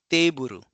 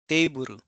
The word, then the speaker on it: teiburu: That means we have to elongate that syllable. So it's keiki. Similarly, table becomes teiburu, teiburu, teiburu.